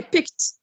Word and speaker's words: picked: The first word here, picked. Which sound? Which sound do you hear for ed? T, d, or id? T.